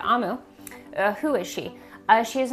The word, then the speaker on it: Omu: So, Amu, I'm sorry, that's how you say it, Amu.